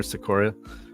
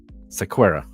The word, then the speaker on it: Sequeira: the family of camer Soria who disappeared June 26 2010 from Forest Lakes Arizona and I think I just butchered that last name again is that s Sakara squa sequera okay yeah um so this is